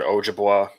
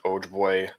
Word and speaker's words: Ojibwe: There's different ways to pronounce it. I've heard Ojibwa, Ojibwe.